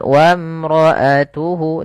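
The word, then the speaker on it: وامرأته: Kemudian padafal wamroatuhu di sini alifnya tidak dibaca tidak boleh tidak boleh kita baca wam enggak tapi langsung saja ke huruf mim yang mana alif dianggap tidak ada wamroatuhu di sini lagi mad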